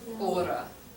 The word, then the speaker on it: hora: uh-huh, ora. Que ora. It's spelled H-O-R-A.